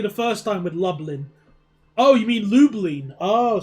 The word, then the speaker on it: Lublin: It's pronounced lublin.